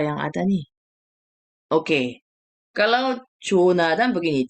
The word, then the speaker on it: 조나단: 조나단. Gitu ya. Jadi ini aja ya. 드 aja ya. Walaupun TH ya. Tapi bacanya 조나단. Jadi 다, 대아, lalu di bawahnya ada 받침 N gitu ya.